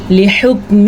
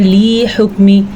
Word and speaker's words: لحکم: جاتی ہے۔ لحکم ربک، ہا کے تلفظ کا خاص دھیان رکھنا ہے۔ بعض لوگ اس کو پڑھتے ہیں لی حکمی، لام کو لمبا کرنا قطعاً جائز نہیں کیونکہ لامز لی اس کی اتنی ہی مقدار ہوتی ہے۔ لحکمی، اسی طرح